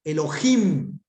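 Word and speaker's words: אֱלֹהִים: Ahí indica que esa palabra lleva el acento allí. Elohim.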